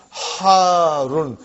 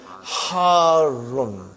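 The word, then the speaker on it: ḥārrun: Harun. Because the shadda is on ra. So you got to pronounce it properly. Harun.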